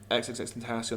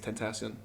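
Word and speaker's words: XXXTentacion: You know, XXX Tentacion as well. To be fair, like XXX, I don't know how to say it. It's XXX. I think it's Tentacion.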